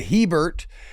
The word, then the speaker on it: Hebert: Hebert. Hebert. I got it. Yeah. A-Y Bear. Yeah, it is. Yes, it literally pronounced like, oh, look, a bear. It is Cajun French in origin.